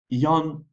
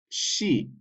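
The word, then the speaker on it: 四: 4 is yon. Yon. You can also pronounce 4 as she. She. In some contexts, you'll need to read 4 as yon, and in others as she.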